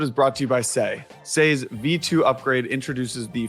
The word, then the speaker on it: Sei: You can follow along with the Sei journey on X at Sei Network. Sei is spelled S-E-I.